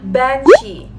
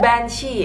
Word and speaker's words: Banshee: Katanya, "Kak, tolong dong bahas hantu Banshee." Emang agak pronunciation-nya agak tricky gitu. Kedengarannya kayak Banshee, kayak banci gitu ya. Tapi sebenarnya bukan banci, tapi kita akan membahas tentang hantu yang bernama Banshee.